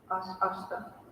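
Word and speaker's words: aṣṭa: When it's S with the dot below, it's spelled as just S. SH. Ashta. Ashta.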